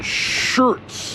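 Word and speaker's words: Schurz: day finds us in shirts I believe it's how it's pronounced s CH Ur TC and this is on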